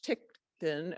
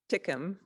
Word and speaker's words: Tinkham: Okay, so 4 months after the visit of the census workers, there is a visit by Congressman George H. Tickton, I'm going to say his name right, Tickham of Massachusetts, and there's a group with the U.S.